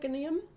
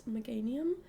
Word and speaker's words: Meganium: Um, and yeah, it's it's not meium, just in case you were wondering, even though it does have the word mega in it. It's Meganium. Um, but yeah, it is